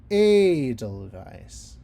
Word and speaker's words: Edelweiss: See, it's a German word, but the syllable stress is on the first syllable. We sing Edelweiss.